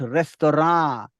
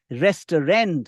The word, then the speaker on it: restaurant: new restaurant in town what is the pronunciation the pronunciation is not restaurant the pronunciation is not resturent although some natives also say resturent the pronunciation is not Resturant the pronunciation is not restant the pronunciation is restaurant restaurant remember restaurant you should like the